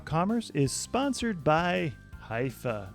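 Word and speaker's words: Hyvä: Commerce is sponsored by hia or as the Europeans say Hua or the right way to say hoofa is rapidly becoming the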